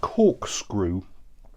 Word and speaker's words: Cawkscrew: It's called Cawkscrew, but it's spelt C-A-W-K, screw.